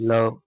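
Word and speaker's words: love: जैसे एल ओ वी इ लव।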